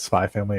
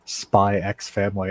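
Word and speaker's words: Spy × Family: time perfect um when I first talked about spy family at work I was humbled because I called it spy X family and the person was like is pronounced spy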